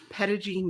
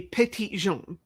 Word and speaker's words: Petit Jean: It should actually, if you want to pronounce it correctly, it would be Petit Jean.